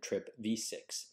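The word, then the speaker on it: TRPV6: the vanaloid subfamily trpv these two channels are pronounced trip v5 and trip v6 now remember with magnesium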